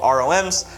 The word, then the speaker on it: ROMs: You can get these things called ROMs, which rhymes with moms, and I believe you will have tons of fun with this.